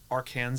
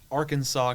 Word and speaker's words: Arkansas: state like Heritage like the pronunciation comes from when the French like were there before like the Louisiana Purchase and so therefore like we would say like aranza this in like a English like phonetic pronunciation but Arkansas comes from the like French like pronunciation oh I guess yeah